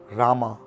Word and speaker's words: राम: की उत्पत्ति हुई है और शिव हैं, शिवा नहीं है। राम है, नारायण है, तो ये नारायणा रामा नहीं है।